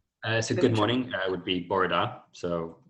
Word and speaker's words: bore da: So good morning would be Borada. So Borada. Borada.